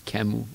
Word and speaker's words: Camus: Well, the English pronunciation would be Albert Camus, but that's not the way you pronounce his name. It's Camus in French.